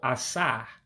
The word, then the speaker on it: asaa: So Ah-Sah is the number 7. Again, Ah-Sah means 7.